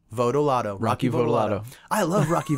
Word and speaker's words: Votolato: So after this, let's all just say Votolato, okay? Votolato.